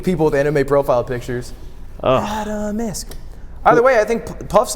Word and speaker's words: Atomsk: Atomisk is the way to pronounce it.